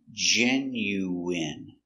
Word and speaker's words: genuine: genu w i genu genuine genuine genuine first syllable stress genuine genuine genuine let's